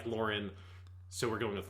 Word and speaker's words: Loran: say i don't know it sounds like lauren gwen likes to call him laura so it's clearly supposed to sound like lauren so we're going with lauren it is an intentional